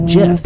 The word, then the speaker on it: GIF: section it states oh we actually have official documentation that it's called a Jeff oh my goodness so